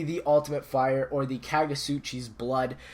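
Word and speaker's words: Kagutsuchi: Ultimate Fire, or the Kagasuchi's Blood. Now, nailed the name. Yeah, it is pronounced like that. The T is silent.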